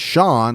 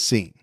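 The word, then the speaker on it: Sean: I wouldn't normally say that as Shawn. I think most people would. For some reason, he pronounced it as seen. So, we're calling him scene.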